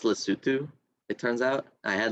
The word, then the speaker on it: Lesotho: okay it's like Lesotho right uh yeah that's pronounced Lesotho it turns out I had like a friend